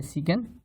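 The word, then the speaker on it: sec: आगे cos theta, इसका converse होता है सेक थीटा या सीकन थीटा, और टैन थीटा या टेंजेंट थीटा का कन्वर्स होता है कोटेंजेंट थीटा और कॉट थीटा।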